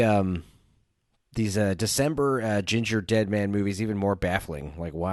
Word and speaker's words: Gingerdead: I'm not even POS is it Ginger dead or Ginger death the ginger dead man because it rhymes with gingerbread man got it genius well